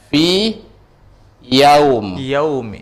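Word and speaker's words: في يوم: Kalau contoh ya berjumpa dengan ya, contohnya fi yaum. Ya. Fi yaumin. Ya, ini kan ya berjumpa dengan ya. Kan berserupaan. Tapi ini nggak boleh diidghamkan, nggak boleh dimasukkan tasdid kemari. Kenapa? Karena pengecualian.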